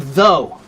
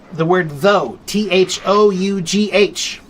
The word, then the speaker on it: though: So, for example, the word though, T-H-O-U-G-H. Why do we say O-U-G-H, but we don't pronounce those letters? We just pronounce O, though, right?